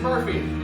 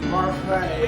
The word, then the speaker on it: Barfee: Miss Murphy, It's Marfay.